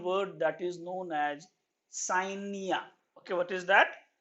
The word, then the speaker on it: scientia: Now, this science term came from a Latin word that is known as scientia. Okay, what is that? Scientia. So it is came from a Latin word. The pronunciation is scientia.